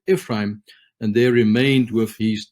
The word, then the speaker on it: Ephraim: If you would take the word Oprah and you add the word Ephron and the word Afra, it almost sounds like Ephraim.